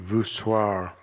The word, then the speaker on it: voussoir: Keystones and voussoir, says it rhymes with bizarre.